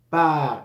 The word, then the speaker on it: pars: parents je par Je par s final no se pronunciar y tendemos a pronunciarlo y yo no es